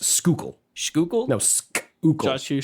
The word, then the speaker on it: Schuylkill: josh you don't pronounce the h it is just schuylkill no sk you said